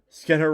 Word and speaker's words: Skinner: Skinner rhymes with spinner, huh?